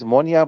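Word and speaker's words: Moynat: about ammonia sorry uh it is pronounced as ammonia but it's spelled as m-o-n-y-a-t look i think the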